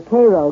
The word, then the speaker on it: Cairo: Oddly enough, though, Illinois is sometimes referred to as Egypt because the fertility of the soil in and around Cairo, or Cairo giving it the Illinois pronunciation, resembles that of its Egyptian namesake.